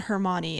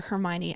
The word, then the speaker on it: Hermione: he relies too much on hermony and some of their hermione i keep saying her name wrong and forgive you thank